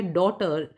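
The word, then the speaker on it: daughter: तीसरा है डॉटर, डॉटर में जी एच साइलेंट है।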